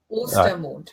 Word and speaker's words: Ostermontag: Oster. Yeah. I've got to put, if I put an A in there, then it'd be right, wouldn't it? Oster. I can do that. Right, I'll do that mentally, not on the screen. Not quite. Ostermontag.